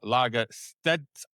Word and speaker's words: Lagerstedt: way from the states wonderful individual called Paul Lagasse and if you correct me if I've got that pronunciation right or wrong perfect you got it